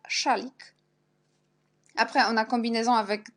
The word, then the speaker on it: szalik: Puis, on a aussi SZ, on prononce toujours ch. Par exemple, quand le mot français chat, un chat, on prononce ch comme szalik, jak szalik.